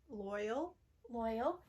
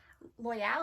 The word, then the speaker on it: Loial: Loyal. Yes, Loyal is how they say it in the show.